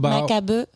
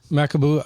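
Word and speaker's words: Macabeu: Makaboo. Makaboo.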